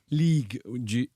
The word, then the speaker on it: Ligue: League G-U-E, League Yeah.